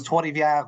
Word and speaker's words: Trois-Rivières: It was Trois-Rivières Metal Fest. Yeah, you have to have a little French in you to got to have the little roll in your R's there.